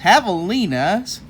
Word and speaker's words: javelinas: Javelinas. You see, we have the pronunciation again.